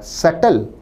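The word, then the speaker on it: subtle: अशोभनीय भद्दा पन और सटल इस शब्द में बी नहीं बोला जाता सटल का अर्थ है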